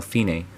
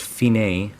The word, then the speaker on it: fine: Dici al fine, which stands for da capo al fine. This is pronounced fine, not fine.